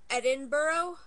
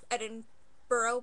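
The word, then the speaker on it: Edinburgh: um we went to a place called Edinboro although it's spelled like Edinburg so whoever you say we went to Eden burough which is how they say it here whatever um so and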